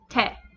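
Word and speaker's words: て: it doesn't go out as much this is te finally we have tall this is just a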